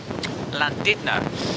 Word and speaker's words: Llandudno: spelt land under but the locals often shall pronounce it Llandudno and here we have the Holy Trinity Church